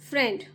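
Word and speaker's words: friend: फ फ्र एन ज फ्रेंड माय फ्रेंड फ्रेंड का य स्पेलिंग होता है यहां आई साइलेंट होता है तो फ्र एंड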